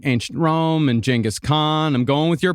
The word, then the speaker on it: Genghis Khan: done, huge series on like ancient Rome and Genghis Khan. I'm going with your pronunciation.